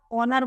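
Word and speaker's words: owner: आया ऐसे ही ओनर तो इसमें भी ए साइलेंट है ऐसा लग रहा है ओनर बोल रहे है ओ से स्टार्ट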